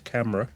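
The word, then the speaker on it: Câmara: And it will be Fornaroli, Camera or Camara. They seem to have changed the pronunciation of his name halfway through the season to Camera.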